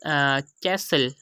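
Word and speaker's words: castle: ऑफ टी इसे silence तो इसमें यह बताया जा रहा है की कुछ ऐसे शब्द होते हैं जिम जो है इससे पहले ए जाता है और उसके बाद ल तो ऐसे सेंटेंस में हम टी की आवाज को साइलेंट कर देते हैं यहां ऐसे मतलब शब्द में भी हम टी को प्रोनाउंस नहीं कर रहे होते एग्जांपल से समझते हैं फर्स्ट एग्जांपल हमारे पास कैसल यहां पर 30 से पहले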